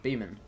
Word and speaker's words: Beeman: gets your name wrong is pronounced be men AHA Beeman hi welcome Beeman how's